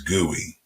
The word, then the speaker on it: GUI: the graphical user interface usually pronounced as gui basically one uses a